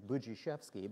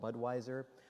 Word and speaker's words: Budziszewski: I've been called, my name is Budziszewski, but I've been called Budweiser.